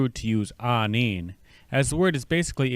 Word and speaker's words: aaniin: second word I presented the syllables for this word are going to be the double a or AA sound next is n double